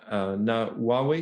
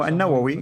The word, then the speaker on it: An-Nawawi: Now, what's interesting, if we go further, An-Nawawi, probably pronounced that wrong, Nawawi. No, An-Nawawi, yeah, it's very well known.